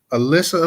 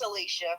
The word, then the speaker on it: Alicia: get it to um Alyssa Alyssa I hope I'm not pronouncing your name wrong if I am correct me sweetie it's Alicia Alicia Alicia okay I'm sorry about